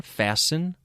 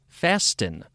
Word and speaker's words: fasten: Believe It or Not other words that have e n endings like soften hasten fasten all originally had the T pronounced imagine soften hasten fasten now these sound very